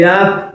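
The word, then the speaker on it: ح: After meme, we have noon.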